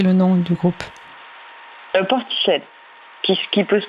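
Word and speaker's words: Portishead: J'ai pas bien compris le nom du groupe euh ported qui peut se prononcer aussi mais voilà c'est une ville en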